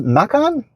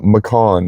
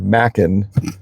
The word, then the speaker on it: Macan: And it's pronounced Macan. So, Macan. Macan. Okay. So, a lot of people will call it a Macan or Mackan, but Porsche calls it Macan.